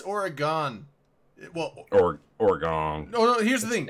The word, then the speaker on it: Oregon: To Oregon shooter, it's Oregon. Oregon. No. Here's the thing. It's origami. No. Like, just a pronunciation thing. Everyone on the East Coast calls it Oregon. It's Oregon. Just saying.